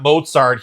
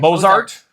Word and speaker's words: Mozart: Like with the T. You just You kind of don't do a T sound. You're like Mozart. I say Mozart.